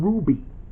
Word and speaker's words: RWBY: He's from Ruby. RWBY. That's kind of how it's pronounced in the show.